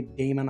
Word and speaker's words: daemon: Now in the book, it's actually pronounced like demon is the proper pronunciation of it, but I always say daemon.